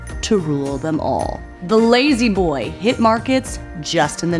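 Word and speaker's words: La-Z-Boy: Lazy boy. 3 syllables, so iconic, fit for the perfect American tagline.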